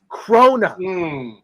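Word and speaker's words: krona: It's Swedish Crona. Crona. Two two syllables.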